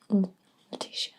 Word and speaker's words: Lutetia: And Lutetia. They're spelled slightly differently, but I think they're pronounced the same.